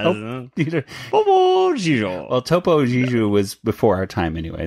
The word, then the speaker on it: Topo Gigio: Popo Gigio. Not Popo. I don't know. Popo Gigio. Well, Topo Gigio was before our time anyway, so it's okay really that you don't know how to pronounce it.